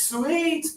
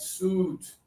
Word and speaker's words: suit: That's not how we say this. He is wearing a very nice sweet to his interview. No, he's wearing a very nice suit to his interview. So, just don't let the spelling ruin your day.